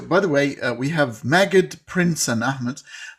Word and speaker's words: Magid: By the way, we have Magid, Prince, and Ahmed. Magid is pronounced in the Egyptian way. The classical Arabic we say Majid, but for very funny,